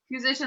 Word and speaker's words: Kuzyszyn-Jones: And I always remember how to say it because you're like Kuzyszyn, like musician, but with a K.